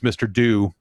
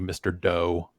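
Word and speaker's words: Mr. Do!: one of them is mr do and he in in japanese pronounces it do and doesn't say do okay um so i'm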